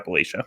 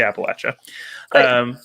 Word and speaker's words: Appalachia: Do you say Appalachia or Appalachia? How do you say it? Okay, well, I'm Canadian, and it's one of those things where we always grew up saying Appalachia, like the Appalachian Mountains, but I understand that that's now not correct.